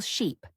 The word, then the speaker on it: sheep: Ship has a short I sound, ship, while sheep has a long I sound, sip.